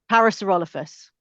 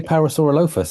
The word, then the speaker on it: Parasaurolophus: Parasaurolophus what I would say parasaurolopus. Is that massively wrong?